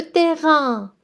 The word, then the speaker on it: terrain: Le terrain de sport. So the A-I-N at the end, you pronounce it as un, like number one. So le terrain de sport means sports field.